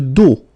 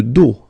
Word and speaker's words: dos: Le dos. Le dos. Final S not pronounced. Okay? Le dos.